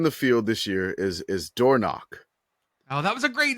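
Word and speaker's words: Dornoch: The one that is in the field this year is Dornock. Oh, that was a great name. That's such a good name. But it's spelled D-O-R.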